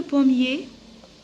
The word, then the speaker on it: pommier: Alors, ER, je la prononce E.